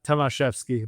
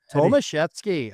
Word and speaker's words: Tomaszewski: Uh, Tomvski, but Tomvetski or not an easy one.